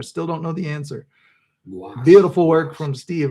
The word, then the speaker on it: gouache: Gouache. Yeah. Gouache. You got it. Gouache. Gouache. Yeah. Good term. I still don't know the answer. Gouache.